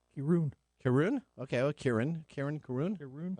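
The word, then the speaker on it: Kirin: Yeah, if it's Japanese, it would be pronounced Kirun.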